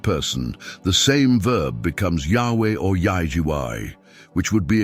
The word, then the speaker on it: Yahweh: this interpretation is correct the pronunciation of the Divine name should be close to that of the verb to be in the third person Yahweh this would make sense